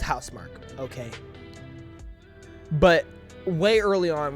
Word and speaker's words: Housemarque: freaking game right so I have no doubt house Mark is going to blow it out the water and look just so everybody knows it's pronounced hous Mark okay but way early on when I first